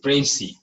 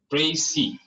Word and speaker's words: précis: के वर्ड्स होते हैं, और इस ई की जो प्रोनाउंसिएशन होती है इसको ए पढ़ा जाता है। तो इट इज précis, précis, last are जो है कि साइलेंट।